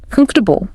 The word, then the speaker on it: comfortable: And another one, comfortable, often comes out closer to comfortable. Comfortable, okay.